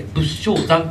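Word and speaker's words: 仏生山: 仏性山、仏生まれる山と書いて仏性山というところに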